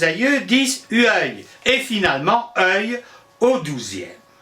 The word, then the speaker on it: œil: Au 8e siècle, nos aïeux disent œil, et finalement œil au 12e. Notez qu'on prononce œil exactement comme le seuil de la porte.